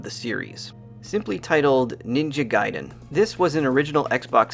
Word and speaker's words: Gaiden: talk about ninja gaiden i always grew up calling it ninja gaiden which i guess is technically the wrong pronunciation i'll try my best to focus on gai and not fall back to my usual gay so this series has